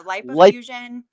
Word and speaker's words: lipofuscin: here to talk about is it lipofusin or lip fusion?